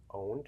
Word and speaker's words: pwned: It's called Have I Been Owned? It's spelled PWNED.